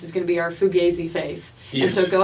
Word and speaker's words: Fugazi: But the slang dictionary tells us it's Fugazi.